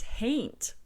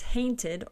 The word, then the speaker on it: hain't: to talk about is hain't which is essentially a pronunciation variation for the word haunt and don't confuse this with